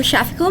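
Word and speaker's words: Shafiquil: answer them sorry about that um I am shafiko I'm with the government Affairs Department my name is spelled s-h-a-f-i-q-u-i-l last name m-u-h-s-h-n-a and I'm going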